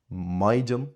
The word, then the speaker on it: maighdean: So, we get words like oidhche, which is generally pronounced with an I, maighdean, which is generally pronounced with an I, or sníomh, which is throughout the whole country as demonstrated, generally pronounced with an e sound.